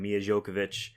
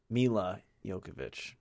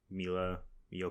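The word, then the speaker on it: Milla Jovovich: Mila Jovovich. See, I thought it was like just like Mia, like you're not supposed to pronounce the L. Mila Jovovich.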